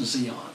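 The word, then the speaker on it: Di An: us over to Zeon it's about d-i-a-n but pronounced Zeon then they assigned me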